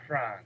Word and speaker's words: Frantz: It's Franz, baby. Come we on, get man. tight. We keep it The right. T is silent.